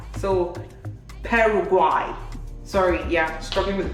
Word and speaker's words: Paraguay: saying Paraguay because of the Y, but it's Paraguay. So Paraguay. Sorry, yeah, struggling with the pronunciation, but look at the pronunciation on the flag.